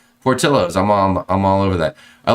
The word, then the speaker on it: Portillo's: Portillo's is Chicago food. You pronounce the L's. Thank you, Stephen Z. Portillo's.